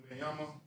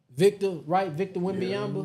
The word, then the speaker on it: Wembanyama: Wembanyama. Victor Wembanyama.